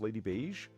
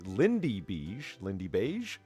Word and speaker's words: Lindy Beige: Lady Beige. I don't know who the fuck that is. Well, let's just pronounce it properly. Lindy Beige.